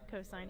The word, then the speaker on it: cos: This one looks like sin, cos, and tan. They are pronounced sine, cosine, and tangent.